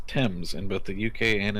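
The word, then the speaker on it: Thames: tell you the word the word tames is pronounced TS in both the UK and in the US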